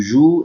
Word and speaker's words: joues: But when I pronounce it, I will not pronounce the letters I added except with nous and vous. So I say je joue, tu joues, elle joue, elle joue.